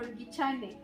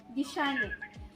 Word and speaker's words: Gichane: Is it Gishane, the Kikuyu one, or Gichane? Gishane.